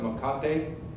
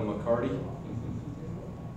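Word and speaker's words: mecate: is actually a McCarty it's been pronounced Mon copy which is Spanish for rope but Gringo's call it a McCarty this is a raw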